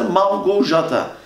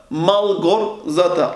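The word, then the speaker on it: Małgorzata: Bu onun okunuşu V. V. Malgorzata. R ve Z, J oluyordu. Malgorzata. Bunun okunuşu arkadaşlar Malgorzata. Türkiye'de eşimin ismi bu şekilde biz düz okuduğumuz için ne olarak okuyorlar? Malgorzata.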